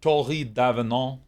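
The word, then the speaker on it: Tori D'Avenant: the world tori davenant that i mean that's pronounced torrid davenal but i like dave and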